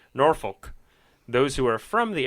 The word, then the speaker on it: Norfolk: Those that weren't born in the area will pronounce it Norfolk.